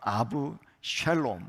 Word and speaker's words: 압살롬: 말씀에 압살롬이라는 사람이 등장합니다 정확하게 히브리어 발음으로는 아부 샬롬 샬롬이라고 이렇게 읽을 수 있는데 샬롬은 많이 들어보셨죠 그러니까